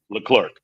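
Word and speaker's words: Leclerc: Uh Sunny takes out the third car and uh Charles uh Ledric or however you say this guy's name in the Abu Dhabi. Yeah. How you say it? L Clerk. L Clerk.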